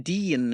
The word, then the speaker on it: Dene: spell it because it's Dean is using spell d e a n and like you say mine's d e n e but pronounced the same yeah but it's good